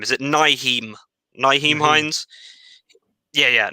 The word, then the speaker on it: Nyheim: I can't pronounce his first name. Is it Nyheim Hines? Yeah. Nyheim Hines, 44 yards.